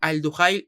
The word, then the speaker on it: Al-Duhail: Y ayer ya fue confirmado lo de Tuta, central brasileño, 26 años, que se fue vendido al Al-Duhail, que se pronuncia así, el equipo catarí, por 15 millones.